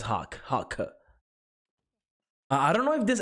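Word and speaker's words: Hawke: Hockey? Nah, it's Hawk.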